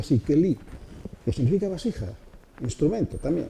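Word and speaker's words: כלי: Keli Or, Keli, eso se pronuncia así, Keli, que significa vasija, instrumento también, vasija.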